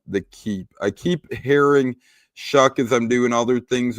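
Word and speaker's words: Shough: You would never expect that his last name is pronounced like Shuck when you're looking at it.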